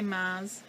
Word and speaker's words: maths: It's maths, but I say maths, like M-A-S. I don't pronounce the T-H.